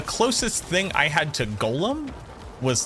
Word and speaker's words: Golem: the comments will go it's Golem not Gollum from Lord of the Rings and I'm like I